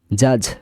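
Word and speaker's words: judge: জাজ মানে বিচারক, জাজ, এখানে সব আছে ডি সাইলেন্ট লেটার।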